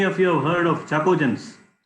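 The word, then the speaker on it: chalcogen: So chacogens is very less known in this series. Where oxygen, sulfur, selenium, tellurium, all of them are chacogens, but it is written as CaHalCO, but it is pronounced as chacogen.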